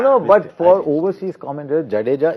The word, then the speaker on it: Jadeja: but for overseas commented Jadeja is the most difficult word to pronounce but it's actually ja ja ja ja deja correct correct it's easy and but